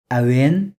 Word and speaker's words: әуен: Tau, Awin.